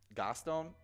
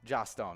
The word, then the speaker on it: Joss Stone: Gostone? Is that how you say her name? Joss. Joss Stone.